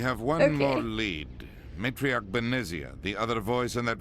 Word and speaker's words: Benezia: Benezia.